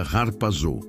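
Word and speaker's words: ἁρπάζω: A palavra é harpazo, que se pronuncia harpazô.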